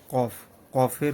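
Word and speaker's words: ق: হরফটা শিখবো সেটা হচ্ছে কফ কফের উচ্চারণ কফ এটা একটু কলকলার হরফ যেহেতু কফ ত বা জিম দাল সেহেতু এগুলার উচ্চারণ কিন্তু একদম কন্ঠনালী থেকে একদম কন্ঠনালী থেকে কফ কফ এইভাবে ঠিক আছে কন্ঠ থেকে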